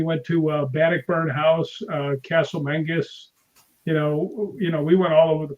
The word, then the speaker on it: Menzies: And the last 3 letters, last four letters are ZIES. They call it Castle Mengus.